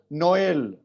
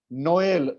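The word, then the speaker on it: Noël: Next is नोएल. नोएल, नो अलग, एल अलग, नोएल Christmas.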